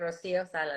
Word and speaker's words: Rocio Salas: I want to make sure I'm pronouncing your name right. Dr. Rocio Salas, right? Yes, correct, Rocio Salas.